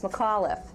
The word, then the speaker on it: McAuliffe: keep hearing it and mcauliffe how do you pronounce it with a heavy c or a it's mccall with an iaf on the end so it's mcauliffe when my husband was